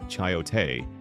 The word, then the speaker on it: chayote: Chiote, pronounced chiote, is a pear-shaped, pale green squash originally from Mexico.